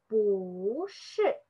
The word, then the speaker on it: 不是: So this one, we just say 不是. Mm-hmm. So we just choose this one. But we notice this one, the pronunciation is not 不, just 不.